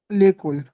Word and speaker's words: l'école: पढ़ना, जब à l'école whenever there is an apostrophe ना, याद रखना वो वर्ड टूटा हुआ नहीं है, वो एक ही वर्ड है, okay उसको एक साथ पढ़ना है, स्टार्ट करके एक साथ खत्म करना है, कोई ब्रेक नहीं देना है इसमें, ठीक, तो ये